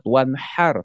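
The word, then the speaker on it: وانحر: di ayat yang kedua di kalimat wanhar pakai h kecil ya hak kecil hak halus ya wanhar sehingga artinya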